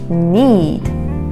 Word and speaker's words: knead: dough until it's smooth the k in the word is silent just like in the word knife need need well done